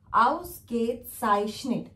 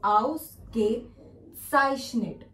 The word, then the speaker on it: Ausgezeichnet: Ausgezeichnet. I know this is थोड़ा सा लंबा वर्ड है, थोड़ा सा लॉन्ग है प्रोनाउंसिएशन में, बट इफ you will try यू can also speak. Ausgezeichnet.